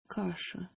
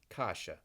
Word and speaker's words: каша: каша, каша, This word is very simply kasha, and it's a very important food in Russia, Ukraine, Eastern Europe in general.